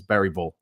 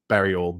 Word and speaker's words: Bergvall: used to it although I'm still calling Lucas bergvall Lucas bergvall and apparently it's Lucas bval or berol bergal anyway whatever um but mattius